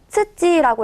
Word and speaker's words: 土: 훈독은요. 츠찌라고 해서 츠찌 자체가 땅을 의미하게 됩니다.